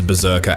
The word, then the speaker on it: BRZRKR: A title spelled without a single vowel that everybody just pronounces Berserker out loud anyway.